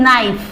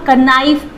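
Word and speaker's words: knife: Then नाइफ, आपको पता है नाइफ क्या होता है? चाकू, सो इसमें भी हम कनाइफ बोलते हैं बहुत सारे लोग, बट K will remain silent.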